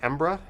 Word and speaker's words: Edinburgh: learned the other day the locals say embra edinburgh edinburgh no i have